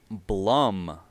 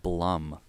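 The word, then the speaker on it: Bluhm: artist I got for you guys today is Blum that's spelled b-l-u-h-m it's a Duo based in the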